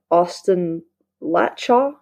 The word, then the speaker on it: Austin Latchaw: your book that you mention quite often is Austin Latchaw.